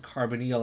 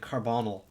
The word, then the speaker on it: carbonyl: for the longest time i i didn't even pronounce it carbonyl i was like carbonal and that i got yelled at a lot